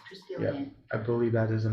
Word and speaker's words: Triskelion: Triskelion. Triskelion.